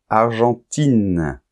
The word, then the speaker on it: argentin: vois bien la différence argentin avec la nasale Argentine il n'y a plus de nasal parce qu'il y a un E qui détruit la nasale en fait et on entend I et n argentin Argentine allemand on